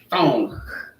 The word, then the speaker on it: psalm: It's properly pronounced thong, right?